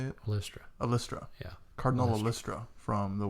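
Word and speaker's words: Ollistra: But I most notably remember her as Orlista. No. How do you say it? Alystra.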